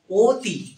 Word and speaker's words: অতি: আর অ এর উচ্চারণ হয় ও এর মত। যেমন হচ্ছে অতি। অতি দেখ অতি।